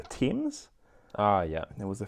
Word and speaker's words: Thames: pronounce the cryptid but i said thames instead of the teams oh yeah there was